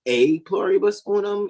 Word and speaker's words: E pluribus unum: So it's not really E pluribus unum, it's ex, because in Latin, the letter E is pronounced like the long A sound.